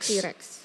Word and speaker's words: T-Rex: Tre-rex. T-Rex. T-Rex tuh kalau bahasa Inggris bacanya tetap T-Rex kan, bukan Tre-rex kan. Kan dia T strip baru Rex kan, bukan T.